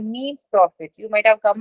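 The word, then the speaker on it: mesne: it it is called means profit you might have come across m-e-s-n-e profit it's pronounced as means profit but it is so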